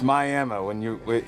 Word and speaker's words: Miami: Do they pronounce it like Miami there, or is it Miami? It's Miami.